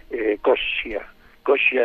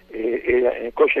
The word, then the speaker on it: Coscia: Pronuncio como los italianos, es decir, la doble consonante se pronuncia más fuerte.